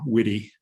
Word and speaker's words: Witte: my my name uh my last name does have two syllables witty um i forgot to